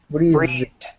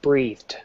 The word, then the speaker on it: breathed: the DU right okay breathed perfect yeah that's it breathed this is the root word and what does it end and what's the final consonant what's the final consonant uh you don't sound it out just spell it out what's the final consonant here yeah the th okay so far we know that if it has an N or a zed or a th we use the DU sound right okay guys are